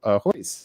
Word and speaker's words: Ho: let us welcome Mario ho hey Mario welcome hey Mario hey thank you Brandon Shan first tell us the correct pronunciation of your last name okay shall I pronounce correctly it's h ho ho you go not that